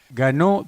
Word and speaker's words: Ganeau: Ganó, pronuncié bien el apellido, se escribe Ganeau. ¿Qué origen tiene? Es de origen francés y yo crecí en la comunidad francesa, diríamos, mayor, que se instaló en proximidades de Pigüé, al norte de Sierra de la Ventana, a fines del siglo XIX. Ajá, Así que de ahí mi apellido y por eso EAU, que se pronuncia como claro. O, ¿no?